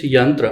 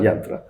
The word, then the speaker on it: Yaantra: Is it Yaantra or Yantra? It's Yaantra. Yantra, but spelled with a double A.